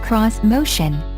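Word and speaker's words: Xmotion: cutting-edge crossovers and suv's vish motion pronounced cross motion uses a three row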